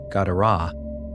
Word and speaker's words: Gadara: r a h, but if you take one r out and one h out, it's still pronounced Gadara.